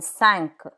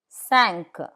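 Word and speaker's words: cinq: Q like in sank. Five sank. C like in a ve with a ve.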